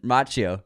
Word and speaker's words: Macchio: Macchio.